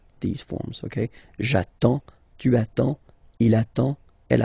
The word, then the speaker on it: attends: J'attends. Okay, you get D and S, well, basically you don't pronounce them, okay, and then you get only the sound attends, nasal here, en, j'attends, okay.